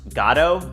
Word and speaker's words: Godot: It's pronounced Godot.